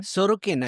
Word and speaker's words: Sorokin: Sorokin.